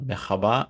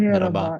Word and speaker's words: merhaba: And I heard that Turkish more like to say merhaba, not mehaba, but merhaba.